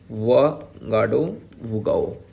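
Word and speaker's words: Ouagadougou: अगर Burkina Faso की बात करेंगे, यहाँ का जो कैपिटल हो जाता है आपका वागाडोगाओ। ठीक है, यहाँ पे देखेंगे, उसको प्रोनाउंसिएशन थोड़ा देखेंगे, वागाडोगाओ।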